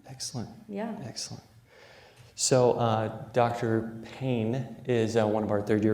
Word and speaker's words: Payne: Payne, the way you pronounce it.